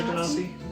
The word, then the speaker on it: genasi: Water genasi. Genocide. We all pronounce it differently.